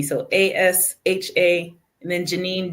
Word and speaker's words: Asha: It's spelled and pronounced just like Tasha. There's just no T.